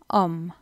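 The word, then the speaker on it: homard: அதை நீங்கள் ஓம் தான் சொல்லணும், ஓம். நெக்ஸ்ட் சிங்கரால், அதாவது லாப்ஸ்டர். அதை நீங்கள் ஃப்ரெஞ்சில் ஓமா தான் சொல்லணும். கடைசியில் வர டியை இக்னோர் பண்ணணும், ப்ரொனவுன்ஸ் பண்ணுறேல. ஸோ அதை நீங்கள் ஓமா.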